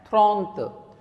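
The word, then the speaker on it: trente: is different, 30 is different, 30 will be pronounced as thront, thront.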